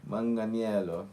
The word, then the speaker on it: Manganiello: We are looking at how to pronounce the name of Joe as Italian. If we were lost Manganello. Manganel. Manganello.